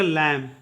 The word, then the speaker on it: lamb: इस प्रकार से नेक्स्ट देखिएगा, LAMB में बी फिर से साइलेंट होगा, क्योंकि ये एम के बाद आया है। इसका उच्चारण करेंगे लैम। LAMB का उच्चारण करेंगे लैम।